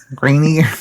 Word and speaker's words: Grenier: Jean Grenier, or what do you want to pronounce that? Greenier, Steve? Grenier.